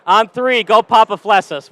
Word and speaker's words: Papaflessas: Is it Papaflessas? Yes. What is it actually right, though? Yeah. All right, so it is Papaflessas. Yeah. All right, on three, go Papaflessas.